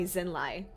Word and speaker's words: Zinlai: I shall keep a close eye on Lord Zinlai. Zinlai. I like it when they say it, because now I know I'm saying it correctly. Okay, Zinlai.